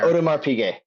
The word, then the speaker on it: Audemars Piguet: My second question, for a good timepiece, a Rolex, a Patek Philippe, how do you pronounce the AP one? I'm really showing my ignorance here. Audemars Piguet.